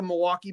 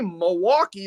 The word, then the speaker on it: Milwaukee: I know you don't say Milwaukee like the rest of us do because we don't pronounce the L here because we're too drunk to do it.